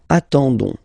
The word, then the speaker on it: attendons: and then we've got the classic ending for nous, so ons, okay, you don't pronounce the s, so you get only this on sound, okay. Attendons, nous attendons, so we'll make the link between the two, la liaison.